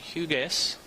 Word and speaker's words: Hugas: Looks like second place was Hugas from Musselman. Did I pronounce that correctly?